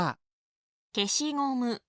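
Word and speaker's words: 消しゴム: ยา ลบ ยาง ลบ ภาษา ญี่ปุ่น ออก เสียง ว่า เคชิ งมึ เคชิ งมึ พูด ตาม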